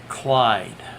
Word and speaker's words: Chlaid: I watch a really good Twitch streamer from Australia, Clyde, but it's spelled CHLAID, I think.